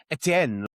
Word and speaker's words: Etienne: thrown by is that I would say Travis Etienne is still not how it should be properly pronounced in Creole. Like we should be doing it almost like full French like Etienne. Like Saint-Etienne the football team or the 90s